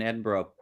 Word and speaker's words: Edinburgh: I mean, there's been a lot of, for all the drama that went down in Edinburgh. No, I pronounced it like a proper non-North American thank you.